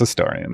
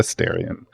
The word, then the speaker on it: Astarion: remember how to pronounce I go to the Britney Spears R to remember how to pronounce a staran it's a staran not a Starion all right uh male